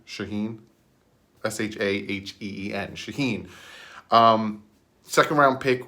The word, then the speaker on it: Shaheen: to the chicago base for tight ed adam shaheen i think that's how you say his name shaheen shaheen shaheen s-h-a-h-e-e-n shaheen um second-round pick with chicago three